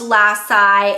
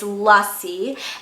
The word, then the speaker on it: lassi: Now, if you know anything about the name Lassi, if you guys are not familiar, it's not pronounced Lassi, it's not Lassi, it's Lassi, and that is basically a mango milkshake.